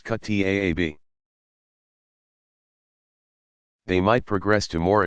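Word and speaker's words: kuttab: Younger children attended a Quran school called a kutab, pronounced kutaab.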